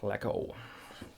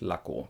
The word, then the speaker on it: Laco: Common mistake here, Laco. Laco. Nothing wrong with that, everybody will understand you, but the correct form is Laco, because the German A is A. Laco. Okay, that's it, Laco.